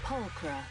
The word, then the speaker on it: Pulchra: It's Pulchra. Pulchra. Why is there an H? If it's not even in the pronunciation.